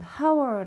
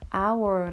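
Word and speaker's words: hour: 자음 입니다 자음 인데요 이 단어는 하 워 라고 잊지 말 않고 아우어 라고 있죠 이렇게 모음 바람이 나고 있기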